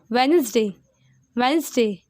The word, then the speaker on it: Wednesday: And write in the middle, the letter D is silent in the word Wednesday.